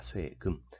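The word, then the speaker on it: 金: 쇠라고 읽는 거죠. 쇠금자입니다. 쇠금. 그래서 우리는 요런 것들을 금문이라고 표현을 하는데, 쇠도 근데 어찌됐든 되게 단단한 표면의 재질을 가지고 있는 거죠.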